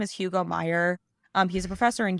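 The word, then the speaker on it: Meijer: who are from Michigan Meyer is spelled like the uh chain of stores in Michigan a fun little thing that only Michigan people will understand Meer is spelled m e i j r um yes fantastic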